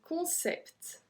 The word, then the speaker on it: concept: So we're not supposed to pronounce the T, so it will be un concept. But we actually pronounce the T at the end on this one, so un concept.